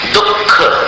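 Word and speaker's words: दुःख: जैसे उदाहरण के लिए दुख अब देखिए दुख में अपन लिखते हैं विसर्ग लेकिन उच्चारण नहीं करते विसर्ग का। उच्चारण अगर विसर्ग का करोगे तो कैसा उच्चारण होगा? दुख। लेकिन उच्चारण ऐसा नहीं करते। उच्चारण अपन जीवा मूल्य का करते हैं।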